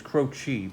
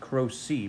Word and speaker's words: Croci: The correct pronunciation is croci, but That's the Italian pronunciation. We pronounce it Crow-C because I come from a long line of rogues and scoundrels, and we don't even know how to properly pronounce our own name.